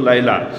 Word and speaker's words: লায়লা: ওইযে লাইলি মজনুর কেচ্ছা আছে না লাইলি বলে মূল উচ্চারণ তো লায়লা ওই জামানার লায়লা মনে হবে।